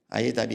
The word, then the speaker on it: AIEDAP: 있습니다 첫 번째는 이답입니다 aiedap라고 했는데 i의 답이라고 읽습니다 이것은 모든 교훈의 디지털 역량을 개발하기 위한 연수 과정입니다 아이답이 있고요 그 다음에 블렌디드